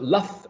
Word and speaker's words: laugh: So laugh ends with a G and an H, right? L-A-U-G-H, but the final sound is f, as in fun.